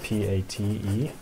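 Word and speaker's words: pâté: It's spelled P-A-T-E, pate.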